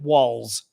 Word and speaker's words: Walz: I can deal with walls walls I can deal with so um yes walls we were pronounce those the same way solak walls as in the wall of your house and walls as in